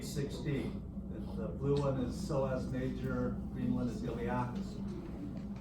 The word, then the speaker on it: psoas: P is silent. Iliopsoas. Iliacus, psoas major, iliopsoas.